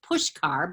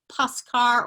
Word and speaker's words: Puskar: There's no H in there. It's pronounced Pushkar, but it looks like Puskar or Puskar.